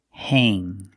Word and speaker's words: hang: Whenever you see A-N-G, it is pronounced with the long A sound. A, like day and say. Pronunciation, hang, hang.